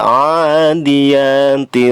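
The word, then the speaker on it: العاديات: Pada ayat pertama, wal 'adiyati dhabha. Wal di situ ada alif lam. Alif lam qamariyah. Adiyati, a dibaca panjang, 2 harokat. Ini namanya mad tabi'i. Adiyati, ya-nya dibaca panjang juga, sama seperti a, lamanya 2 harokat, disebut mad tabi'i.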